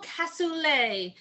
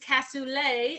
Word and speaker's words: cassoulet: the next one is a simple cassoulet that's how you say it and I always say I know how to say it because casulay is fun to say uh so that's see um it's French just so you know it